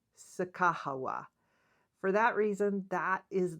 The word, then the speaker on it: Sacagawea: And I learned during that trip, along with some of the things that I researched before we went on the trip, that this name is probably pronounced Sacagawea.